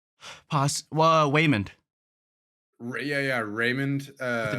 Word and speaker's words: Waymond: Waymond Yeah, yeah, Raymond with the W. with is it actually pronounced with a W?